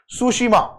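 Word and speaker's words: Tsushima: उसका नाम है सुशीमा. टी साइलेंट है, सुशीमा आइलैंड.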